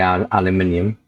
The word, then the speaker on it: aluminium: I mean, you can use aluminium or Americans say aluminum, and we say aluminium.